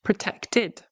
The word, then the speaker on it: protected: Protected, protected. We use the id ending, we add a syllable because it ends in a T.